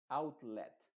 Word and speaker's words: outlet: En este caso, esta ET se pronuncia tal cual, esa E se va a pronunciar como una E, se va a decir alphabet, outlet, quartet, o quartet más bien, quartet.